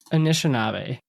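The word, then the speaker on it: Anishinaabe: A N I S H I N A B E Inishab. An Inishab. Yes. Yeah, you said it right.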